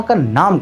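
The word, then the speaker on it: Qin: इसे लिखा जाता है क्यू आई एन लेकिन प्रोनाउंस किया जाता है सी एच आई एन मतलब चीन।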